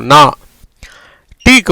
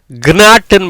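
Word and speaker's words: knot: ஆக ஜிக்கு உச்சரிப்பு இல்லாதனால என்ன வந்துடும், அடுத்த உடனே என்ஏ வந்துடும், நா. டீக்கு வந்து இட். எப்படி வருது, நாட். கினாட்டுன்னு படிக்கக்கூடாது, இஞ்சி நாட்டுன்னு படிக்கக்கூடாது.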